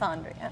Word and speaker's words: Andrea: And I'm Andrea. Andrea. this is Andrea. Andrea or Andrea? I haven't known you for years. It's Andrea. I have been mispronouncing my good friend Andrea's name for 3 years.